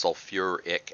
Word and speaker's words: sulfuric: soul fur ick acid we add the you are in to help with the pronunciation instead of just being sulfite it's sulfuric acid okay but hydrosulfuric acid